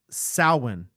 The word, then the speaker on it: Samhain: Loomis, it's pronounced Samhain.